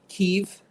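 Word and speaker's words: Kyiv: did scout kia um we keiv um as i understand is the correct way to pronounce it correct you know i'm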